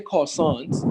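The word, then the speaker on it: croissant: ok so you say cosines without pronouncing the are because the the word is borrowed from French it's not English English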